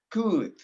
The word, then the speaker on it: could: happened with this word you cannot or you must not pronounce l l l is not pronounce it l is not pronounced okay you pronounce could no cool no or cold no or cool no good good could okay that's the correct pronunciation no l all right cold no